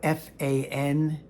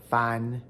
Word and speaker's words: fan: If you looked up F-A-N as the Pinyin spelling of fahn, you probably saw a bunch of these. F-an, fahn. F-A-N in Pinyin is pronounced fahn. Not fan.